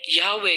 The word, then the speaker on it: यहोवा: उन लोगों ने याहवे के YHWH और उन लोगों ने एडोनाई शब्द के ए, ओ और ए, इन तीनों को लेकर एक हाइब्रिड वर्ड बनाया जो प्रोनाउंस होता था यहोवा।